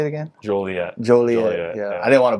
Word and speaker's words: Joliet: Joliet.